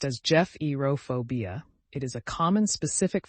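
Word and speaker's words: gephyrophobia: Bridges pronounced as Jeff Eeropobia.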